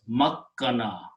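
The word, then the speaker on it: مكّن: Okay, so when we apply, this word become meme and kaf will have a shadda on it, and it will be sounded as makkana.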